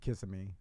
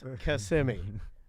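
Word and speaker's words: Kissimmee: weird I don't know kissimi kiss me it's fine no no no one you can't say kiss me no you can't people do I correct them they're like K I'm like no it's KMI you got to get it right you know well I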